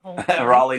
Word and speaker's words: Raleigh: Raleigh, North Carolina.